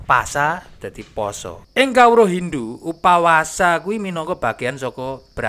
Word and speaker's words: pasa: Upwasa was later modified to become fasting, and pasa to become poso, where in the Islamic Mataram era, words with the letter a were pronounced o. Hanacaraka became honocoroko. Pasa so poso In Hinduism, Upawasa is part of Brata.